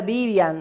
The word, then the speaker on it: Vivian: Com V, mas a pronúncia espanhola é Vivian, ela é uma bruxa espanhola, tá, gente?